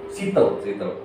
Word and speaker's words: Seattle: Gimana cara baca? Seattle atau gimana? Seattle ya. Seattle. Serius bacanya Seattle. Ya, Seattle. Bukan kayak orang Afrika itu yang baca pronunciation bahasa Inggris.